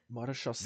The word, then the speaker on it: Maréchaussée: Maréchaussée. This is the one. Okay, I've been saying it wrong.